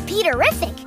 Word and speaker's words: Peterrific: this is my little brother, Peter, also known as Peterrific, which rhymes with terrific.